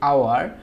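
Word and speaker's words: hour: তারপর হচ্ছে আওয়ার, আওয়ারের প্রথম অক্ষরটা দেখো আ উচ্চারণটা অনেকটা ভাওয়েল সাউন্ডের মতো, যার কারণে আমরা এখানে কি বসাইছি, এর পরিবর্তে এন ব্যবহার করছি।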